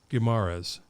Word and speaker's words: Guimaraes: dave thank you oh it's great guimaras you got it yeah al gamaras never i never said